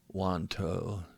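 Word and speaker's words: Wantou: Our Tai Chi teacher at the time was Master Alwyn Sitzun Liang from the Las Vegas Wanto Tai Chi Association. That's spelled W-A-N, Wan, and then T-O-U, which is Toe.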